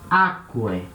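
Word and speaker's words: ἄκουε: O acento cai lá atrás. Então fica aquae.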